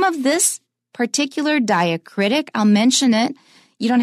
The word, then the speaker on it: diacritic: we have to pronounce it as a separate syllable, Charlotte Bronte. Now, the name of this particular diacritic, I'll mention it. You don't have to remember this, but it might be interesting for some of you. A diacritic is just a little symbol that we add